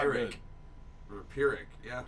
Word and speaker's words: Pyrrhic: the pronunciation Pyrrhic.